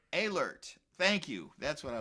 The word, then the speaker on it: Ehlert: The EH is like an A. Ehlert. Can you pronounce it for me? A. Like the EH is like an A. Okay. Ehlert. Ehlert.